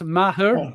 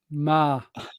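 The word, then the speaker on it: Meagher: Ma. Yep. Not Maher or Mayher. Ma.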